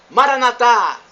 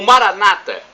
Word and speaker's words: Maranatha: de Jesus eu clamo Maranatha como dizemos nós católicos com a tônica na última sílaba ou Maranata como dizem nossos irmãos separados os evangélicos ou protestantes eles assentou uma palavra na penúltima sílaba e nós na última não importa somos todos